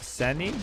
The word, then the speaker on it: Sini: first da has never seen this ever so excited you should read it like sani not singing that's why it's how you pronounce in Chinese you know this just